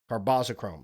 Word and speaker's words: carbazochrome: Carbocchrome. Carbazochrome. Carboschrome. That's how you say it.